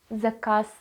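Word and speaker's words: заказ: but it is at the end that is why it is like a voiceless one the cass zakas or for example lut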